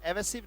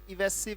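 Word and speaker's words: evasive: हाँ, गलत उच्चारण भी इसका मतलब ना सीखने के बराबर है। एवेसिव नहीं है, वो क्या है? इवेसिव response.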